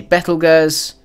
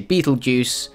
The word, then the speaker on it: Betelgeuse: name people might say Bethel Gers people might say Betelgeuse frankly we just know it as the big red star that's in Orion Bethel girzad Betelgeuse is about 430